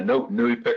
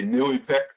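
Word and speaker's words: NEIWPCC: we are really emphasizing new Efik as the organization the I was given a Nui pic rhymes with gluey stick so when you're wondering how to say Nui pic it's just like we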